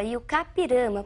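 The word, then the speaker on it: I-Juca-Pirama: e o capirama e a pronúncia realmente é essa e o capirama porque é um termo de origem indígena Nós escrevemos e Juca pirama Mas pronunciamos e o k que significa aquele que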